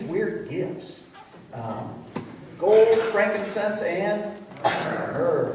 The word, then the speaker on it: myrrh: Gold, frankincense, and myrrh. Rhymes with burr.